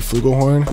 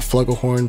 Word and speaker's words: flugelhorn: at the orchestra gypsy flugelhorn not flugglehorn because i heard somebody pronounce it that way hey bro you